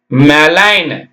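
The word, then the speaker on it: malign: ஏல் ஐ ஜி என் மெலைன் எம்ஏ மே எல் ஐ லைன் மெலைன் ஐ க்கு ஐ சத்தம் ஏக்கு ஏ சத்தம் மெலைன் அடுத்து பார்த்தீங்கன்னா இந்த இடத்துல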